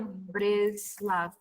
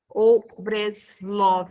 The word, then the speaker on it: Breslov: Nachman de Breslav. Ou Breslov, dependendo da pronúncia, tá?